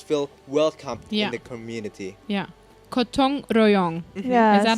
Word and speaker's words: gotong royong: Gotong royong. Yes. Is that how it's pronounced?